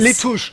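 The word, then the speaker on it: Lutece: Letouche. Letouche. L-U-T. Sprichst du Letouche. Ja? Und wo kommt das zweite U her? Nach dem T? Ist mir egal, das spricht man so aus.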